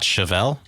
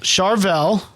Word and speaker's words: Charvel: looking guitar from a company called charvel not chevelle nope not chevelle charvel um it is a